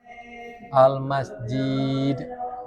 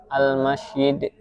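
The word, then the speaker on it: المسجد: Terus tiga, mencampur suara jim dengan syir. Contoh almujahidin, almasjid. Itu benar, itu salah. Salah. Yang benar Almasjid. Iya. Kalau itu mengubah maksudnya berarti Almasyid. Oh, Almasyid. Nah, cuma harusnya jim bacanya turun.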